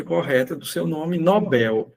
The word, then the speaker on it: Nobel: Ele possui a pronúncia correta do seu nome, Nobel. E sendo a pronúncia Nobel correta, não é acentuada porque é oxítona terminado em L e não recebe acento.